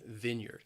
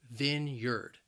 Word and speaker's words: vineyard: vineyard a wine vineyard the word has two syllables and the stress is on that first syllable and that first syllable can be a little challenging because you you you have that short eye sound vineyard vineyard a vineyard